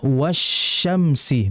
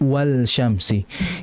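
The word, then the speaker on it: والشمس: huruf berikutnya dimasukkan langsung, sehingga dibaca wasyamsi bukan wal syamsi.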